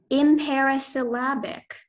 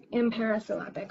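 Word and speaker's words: imparisyllabic: Your word is imperisyllabic.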